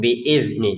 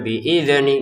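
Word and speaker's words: بإذن: Huruf dalnya jangan dipantulkan ya. Cukup biidizni, jangan biidni gitu.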